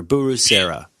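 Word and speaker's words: ブルセラ: can't pronounce this b-u-r-u-s-e-r-a it's almost like the guy from The Godfather buru Sarah yeah it's the Japanese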